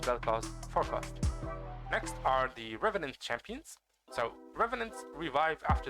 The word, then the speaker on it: revenant: Actually, it's Like the name Revenant is a French word which means coming back, literally. So in case you guys did not know, it's pronounced revenant.